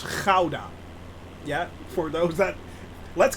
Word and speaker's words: Gouda: it's it's like the hauda yes you actually pronounce it as ghauda and not gouda it's ghauda yeah for those that let's get this straight it's ghauda with a hard g in the back right